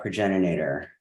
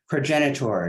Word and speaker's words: progenitor: are loved by that pregenerator progenitor sorry I always mispronounce that I always wanted to have more syllables than it does progenitor she is the progenitor